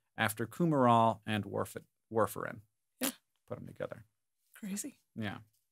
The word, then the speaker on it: warfarin: rat poison yes what warfarin is how it's pronounced according to this on the on the Wikipedia page Worf like Lieutenant Commander of the enterprise yes so that's how